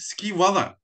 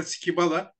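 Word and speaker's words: scybala: baktığınız zaman har şey s c y b a l a öyle bir telaffuz var Eski Yunancadan geçmiş Hani İngilizcesini çok rahatlıkla kullanabiliyoruz Yunancada b yok skial diye telaffuz ediyorlar ama latinler skib Bala Ne diyelim biz bu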